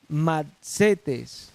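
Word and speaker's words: μαθητής: es la palabra y machetes con acento en la segunda marc cetes zetes significado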